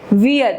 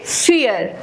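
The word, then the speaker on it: vier: Lesson to में तो जो वी की जो प्रोनन्सिएशन है वो एफ होती है। सो we don't call call it वियर। We call it फियर।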